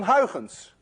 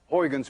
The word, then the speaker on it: Huygens: You see, this sound, UY, is pronounced in Dutch as ui. None of you can say ui unless you're Dutch. To make it worse, this sound you don't have either in English.